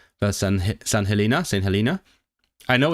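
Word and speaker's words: Helena: us and crown crown dependencies right San Helina St. Helina. I know it's pronounced Helina cuz I listen to the Wendover Productions podcast and so they are not part of the UK.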